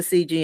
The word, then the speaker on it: Cijy: but the way I'm okay I'm pronouncing it correctly but it's spelled c i JY okay yeah a bit confusing I know I know and yeah it's CG yeah yeah so everyone